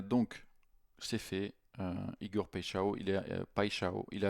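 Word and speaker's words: Paixão: Euh alors ça se prononce pao. Pao. Un po de brésilien m'a dit ça. C'est plutôt pao.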